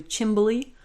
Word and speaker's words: chimney: So chimney also has a few different pronunciations, most notably chimbly, if you've ever heard that.